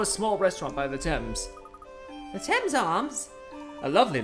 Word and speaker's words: Thames: Thames, apparently, according to Google.